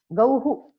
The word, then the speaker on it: गौः: Isha how do you pronounce gauh गौः गौः oh this is not how this is who actually गौः visarga is गौ who हा गौः गोः इफ् यु से गोः तत्र ओकारः श्रूयते किल, अत्र गौ गौः यु